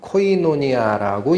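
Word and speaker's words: κοινωνία: 이 단어는 헬라어의 의미로는 코이노니아라고 읽습니다.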